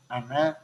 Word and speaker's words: أنا: Jadi kalimah ana pendek bacanya. Tubtu ilaika wa ana awwalul mu'minin. Karena ana itu mutakalim wahdah. Dilihat dari tubetu. Tubetu itu yang ngomong hanya sendiri Nabi Musa. Berarti ana awalul mukminin itu pendek walaupun ada alif.